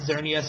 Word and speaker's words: Xerneas: Which one is the flying Pokemon, Xerneas or Yetvel? Yveltal. Okay. Yeah, I can't fucking pronounce it either. X's make the Z sound.